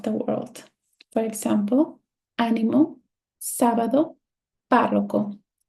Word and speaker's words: sábado: For example, ánimo, sábado, párroco. It's not sábado. It's not sábado. It's sábado.